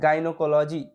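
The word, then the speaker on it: gynecology: ওয়াই এস ই আর geyser একই রকম ভাবে গাইনোকোলজি গাইনোকোলজি ওয়াই এন ই সি ও এল ও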